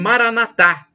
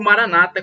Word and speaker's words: Maranatha: todo-poderoso ele Proverá o Maranatha como dizem os católicos com a tônica na última sílaba ou Maranata como dizem os protestantes evangélicos com a tônica na penúltima sílaba Maranata Maranata significado é